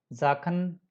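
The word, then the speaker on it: Sachen: यहाँ आप सबका साउंड, ये सबका साउंड में एस का जय प्रोनाउंस हो रहा है. जाखन, जैन, जीबन, जोने, जूखन, ज्यूडन.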